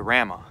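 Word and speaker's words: Ramah: end once i got to rama which is how it's actually pronounced the only thing that's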